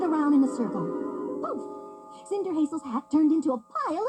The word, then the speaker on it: Cinderhazel: You're right, pronounced Cinder Hazel.